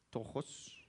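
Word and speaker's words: πτωχός: se dice mi mamá sabe cómo se dice tojos tojos tojos sí se dice tojos es una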